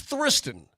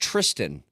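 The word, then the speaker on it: Thriston: know that's what guys it's pronounced Tristan is what somebody says you know what then get rid of the H what what are you doing the H for me it's it's Tristan but there's an H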